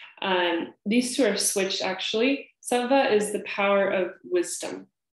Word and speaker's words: sattva: The W, this probably not very relevant, but the W in Sanskrit is pretty much pronounced like a V. So it's a sattva.